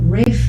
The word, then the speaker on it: Ralph: joseph fines who is the the brother of rafe finds you know other otherwise known pronunciation wise as ralph um but that's you